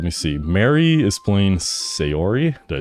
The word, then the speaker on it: Sayori: Mary is playing Sayori.